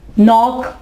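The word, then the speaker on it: knock: नॉक, नॉक, Dastak देना, इसमें देखिए के जो है वो साइलेंट है।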